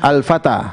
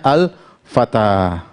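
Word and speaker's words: الفتى: Al-Fata. Bacanya Al-Fata, artinya pemuda. Perhatikan, ini alif sebenarnya begini, Al-Fata. Tetapi tulisnya bengkok. Ini alif ya. Ini huruf alif bengkok, ini alif bengkok. Perhatikan, terakhirnya alif bengkok, sebelumnya apa? Fathah. Bacanya Al-Fatah.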